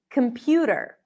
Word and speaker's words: computer: The next word is computer, computer. Kum, kum, kum. Not kum, even though it's quick.